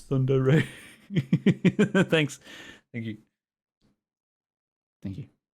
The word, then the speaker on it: tsundere: sundari sundari Center foreign how do you say it oh God seven seconds Sunday Ray Sunday Ray Sunday Ray Thunder Ray Sunder Ray it's Thunder Ray thanks thank you thank